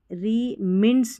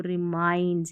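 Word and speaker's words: reminds: the festival also रिमिंड्स नहीं बोलना है इसको, रिमाइंड्स, यानी कि याद दिलाता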